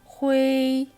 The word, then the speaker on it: 灰: 읽을 때는 오히려 되살려서 오를 넣고 지우가 아닌 지어우 발음이 돼야 되며 후이가 아니라 후에이, 뚠이 아니라 뚠이 돼야 되는 거예요. 전체 같이 읽어볼게요. 揪灰蹲 그 다음 규칙입니다.